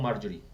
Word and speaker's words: Marjorie: Marjorie or Marjorie? How should it be pronounced?